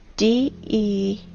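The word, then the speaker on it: дерево: You know, in the Russian language, the word tree is spelled D-E-R-E-V-O, de-re-vo.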